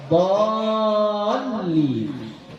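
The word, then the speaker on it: الضالين: Ya, jadi bacanya harus lamnya ini harus bertasydid. Ya, dhalin harus bertasydid.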